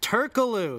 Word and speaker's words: Turkoglu: It's Turkaloo. Turkaloo, whatever. I pronounce it how it's spelled. Turkoglu.